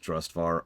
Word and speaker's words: Drustvar: to H white Christ also I know it's pronounced drustvar I don't know why I have so much